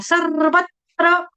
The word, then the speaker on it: सर्वत्र: बनेगा आधे त का आधा त जो है वो आपको व के बाद लगा देना है सर्वत्र देखो मेरा मुंह देखो सर्वत्र सर्वत्र वत्र वत्र अ व के बाद आधा त आधे त का उच्चारण करने के बाद पूर्णत्र सर्वत्र सर्वत्र अब देखो ये वाइब्रेशन है।